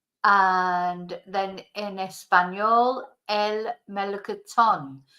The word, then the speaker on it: melocotón: And then in Espanol, el melocotón. So we've got the accent on the end here, so that's where we have to put the stress on the word.